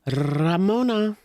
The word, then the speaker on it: Ramona: Roll your R saying Ramona. Ramona. It's Ramona.